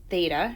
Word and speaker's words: theta: bit, because where the sine of some angle, theta is how you pronounce that, is defined by opposite over hypotenuse,